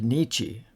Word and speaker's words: Nietzsche: remember that in German when you see the vowels i e you should always pronounce e as in spiel when you see the